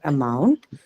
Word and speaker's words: amount: understand this question properly when you mark the stress for amount where will you Market you have to Market on the second syllable why do we do that how many syllables two syllables okay in amount so er and mount right why are we marketing on the second syllable because the first syllable that you have in the word amount um is which is what it is unstressed always right it is the